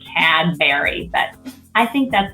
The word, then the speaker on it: Cadbury: Cadbury's. Okay, and let me just tell you, I really do say Cadbury because I'm in Britain way too much to get away with saying Cadbury, but I think that's how most Americans would say it.